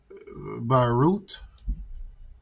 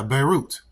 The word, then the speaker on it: Beirut: to explosions at a uh what is this barut airport barut how to pronounce that see yeah you got to go